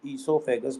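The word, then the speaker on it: oesophagus: इसी को ही हम इससोफेगस बोलते हैं। ओ साइलेंट है।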